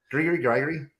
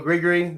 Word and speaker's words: Grigery: That's why It's like Gregory, but grit, not Greg, but grit.